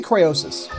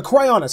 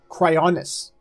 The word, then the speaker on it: Cryonis: How do you pronounce it? I say Cryosis. I don't know if that's... A Cryonis, I'm sorry. Cryonis.